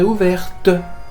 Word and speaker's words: ouvert: La fenêtre est ouverte. Le frigo est ouvert. So here, do not pronounce t. Don't say le frigo est ouverte, because we believe that frigo is feminine.